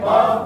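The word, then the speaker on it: كاف: তার বরাবর উপরে তালুর সাথে লাগিয়ে, পাতলা করে উচ্চারণ হবে কাফ, পাতলা করে উচ্চারণ হবে কাফ, জিহ্বার গুড়া, জিহ্বার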